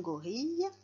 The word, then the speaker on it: gorille: Et dans gorille, on a aussi le E qui est muet.